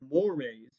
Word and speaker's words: mores: call the mores, now that word is spelled like the word more, M-O-R-E, but it's pronounced mores, and it's talking about the the culture agreement of values and of action.